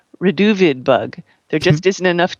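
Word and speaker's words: Reduviid: Another reason to listen is that Alan's punning is almost as good as Vincent's pronunciation. So, Vincent, how do you say that bug? Reduvido.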